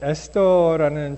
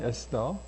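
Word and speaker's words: Esther: 이 에스더가 요 TH가 있는데 이 발음이 D 발음이 나죠. 그냥 TH 발음을 쓰지 않고 그냥 에스더 이렇게 나오는데 여러분 이 에스더는 굉장히 논란이 있는 책입니다.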